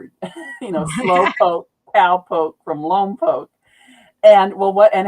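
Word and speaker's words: Lompoc: They shoot the missiles off and uh the town in there is Lom Poke, but people always pronounce it wrong because it looks like Lom Pac and I'll hear it in movies and I'll hear it on the news or something.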